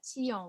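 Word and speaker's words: tian: provincial vegetables or you call it a teong which is spelt t i a n basically a tiong in french is this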